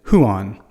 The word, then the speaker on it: Juan: in English and so we're so comfortable with that name that we just call it Juan although I do know a guy from New Zealand who called it huan and maybe that's how they pronounce it maybe that's how they angiz it there huan we still anglicize it because we more people than not would say onean instead of like a Juan and I don't even